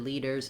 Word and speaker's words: leaders: that same thing and then the er sound the er is an unstressed er so it's going to be fast so i don't want leaders with a strong long er but i still do need that tight back american r with my tongue tight and back and then if i'm